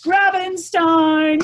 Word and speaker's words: Grabenstein: today guest author whose name happens to rhyme with Frankenstein it's Chris Gravenstein so yeah this is